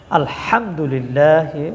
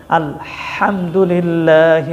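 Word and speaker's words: الحمد لله: যদি আপনি খেয়াল করেন অনেক ভাই বোনেরা এই জায়গায় ভুল করেন আলহামদুলিল্লাহি রব্বিল আলামিন হা উচ্চারণ করেন ছোট হা আলহামদুলি এখানে বড় হা উচ্চারণ করতে হবে। আলহামদুলিল্লাহি রব্বিল আলামিন।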